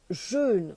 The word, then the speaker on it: jeûne: le jeûne le jeûne j'insiste on dit bien jeûne on dit pas un jeune j'entends tout le monde dire de grâce prononcer il y a un accent circonflexe sur le U donc c'est important de